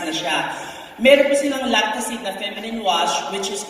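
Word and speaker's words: Lactacyd: Lactacid or lactacid? Lactacid. The proper way to pronounce it is lactacid.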